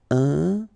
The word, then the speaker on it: important: So final T not pronounced. And then remember, you've got this EM, and after that it's a consonant, so it is here nasal. Important. Important.